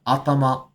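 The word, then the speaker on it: 頭: good to draw attention to the fact that while this kanji is head, in this case it's pronounced to instead of atama, which it normally is.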